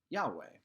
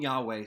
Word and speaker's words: Yahweh: hebrew letters yo hey yahweh is how some people pronounce it and moses heard i am yahweh tell him yahweh sent you well yahweh is a very english and americanized way of saying hey ancient hebrew sages